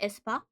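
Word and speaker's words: aespa: Isn't Esper a K-pop group? Isn't that Espa? A E S P A.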